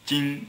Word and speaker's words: 金: This character pronounced as Jin in Chinese, Jin-ni, meaning golden girl.